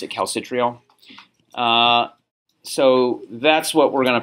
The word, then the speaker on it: calcitriol: I pronounce it calcitriol.